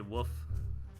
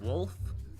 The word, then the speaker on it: wolf: I say woof instead of wolf. I guess you gotta really try to pronounce that L.